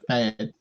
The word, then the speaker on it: Fad: Fad. As in tasteless.